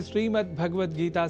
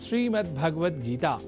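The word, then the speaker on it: श्रीमद्भगवद्गीता: जैसा कि मैंने उच्चारण किया श्रीमद्भगवत गीता जिसे अनवधानतावश हम [नाक से की जाने वाली आवाज़] श्रीमद्भगवत गीता या श्रीमद् भागवत गीता या भागवत गीता कर जाते हैं जो सर्वथा अशुद्ध है।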